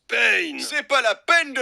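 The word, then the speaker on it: Pain: vois les pages de l'akatsuki point ça se prononce payne c'est pas la peine de le prendre mal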